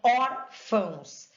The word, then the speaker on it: órfãos: Então, órfãos. A sílaba tônica está no or. Fãos nasaliza, é indicativo de nasalização.